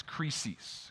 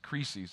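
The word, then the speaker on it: κρίσις: in the greek is crisis crisis it's where we get our noun crisis right and although the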